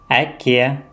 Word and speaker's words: әке: Буква Әке – отец, әлем – мир, произносится более мягко, чем буква А.